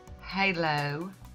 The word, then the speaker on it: Halo: just gorgeous and that I do pronounce it hallo because that's how it's spelled I double-check triple-check to